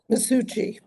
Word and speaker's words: Maschuci: of the mob uh masuchi if I'm if pronouncing that right masuchi masuchi yes masuchi he was otherwise known